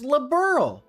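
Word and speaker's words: Liberl: See, and then she says labberl, which is which just just throwing it out there is the correct pronunciation.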